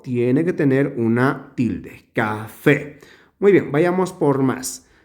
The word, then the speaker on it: café: la siguiente palabra es café tiene dos sílabas café eh dónde se pronuncia con la mayor fuerza de voz es en esta sílaba porque decimos café por lo tanto es